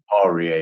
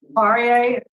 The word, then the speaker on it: Poirier: Segura, we have Amy Segura, Blaine Segura, Kim Martin, and Chris Poirier. Well, how do you say Chris's last name? Poirier, you said it right. Poirier.